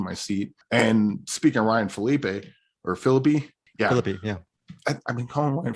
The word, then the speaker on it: Ryan Phillippe: And speaking of Ryan Phillippe. Yeah. I've been calling Ryan Phillippe forever, and then I heard someone say Ryan Phillippe.